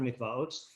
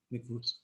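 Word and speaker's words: מקוואות: So nida comes after mikvaos, which, in case you didn't understand, it's mikvaos, not mikvus. They spell it with an aleph.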